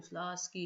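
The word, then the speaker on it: Slutsky: स्लास्की T silent होता है इसमें, स्लास्की इक्वेशन, ठीक है, कैसे बनाएंगे, I hope I can make it quickly.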